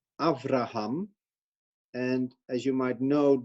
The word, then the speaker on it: Avraham: So it actually should be pronounced as Avraham and not Abraham, Abraham. It's not a hard B, but a soft V.